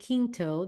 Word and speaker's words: Quinto: Search Of with Zachary Quinto. That's the way I pronounce Quinto, by the way. I don't know if it's Quinto or Quinto, but Quinto's the Spanish way.